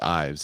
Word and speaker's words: Eves: book it's by daryl i think it's pronounced ives it's e-v-e-s and he's writing the